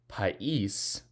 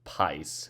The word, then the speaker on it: país: País, 2 syllables. Without the accent, it would be pais. We don't want it to be said like that. So país, accent on the I.